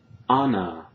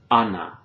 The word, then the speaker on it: Ana: For example, a non-native speaker like me might sometimes pronounce Ana instead of Ana, or America instead of America, para instead of para, or abuela, abuela instead of abuela, all right?